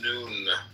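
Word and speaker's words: Nun: and deaths comment on none none pronounced noon transcribed as and the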